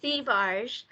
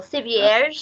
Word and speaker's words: Thivierge: So it's Thivierge, but it's French Canadian. So Thivierge is actually the French pronunciation.